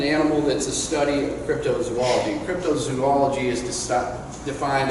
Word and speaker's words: cryptozoology: how pretty all know the term cryptozoology it's often butchered you know people call me up the beyond for producers for a show we're working we're gonna do a show about cryptology or crypto aids or you know they